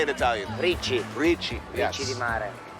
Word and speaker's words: ricci: Ricci.